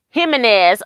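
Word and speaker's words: Jiménez: Jimenez. Okay, and that's what I was so... I was thinking because I thought J's were pronounced as an H, but I wanted to make sure.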